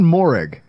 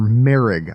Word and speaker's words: Moehrig: And then Trevon Moehrig, or Merrig, I believe is how it's pronounced, is the safety playing with a thumb injury.